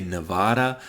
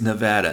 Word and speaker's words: Nevada: in Nevada and yes that is how you pronounce the state most people outside of the state say Nevada I was born in Nevada so I'm telling you right now it's Nevada now she lives in Carson City Nevada if